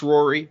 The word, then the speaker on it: Ruairi: So the second one is from Rory, and they say it is pronounced Rory, but curious to hear your attempts at pronouncing it.